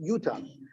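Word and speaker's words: יתן: So it's written yite, but it's pronounced yutan.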